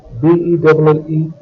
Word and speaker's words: belle: Belle, B-E-L-L-E, is used with feminine nouns. B-E-L, belle, and B-E-L-L-E, belle, have a very similar pronunciation.